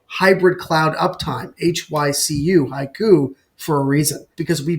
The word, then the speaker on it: HYCU: but the truth is the pronunciation haiku is an unintended benefit of the acronym. Hybrid cloud uptime. That's where the name really comes from, HYCU, haiku.